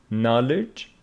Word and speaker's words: knowledge: it and this one k before n is not pronounced n no knowledge and what do these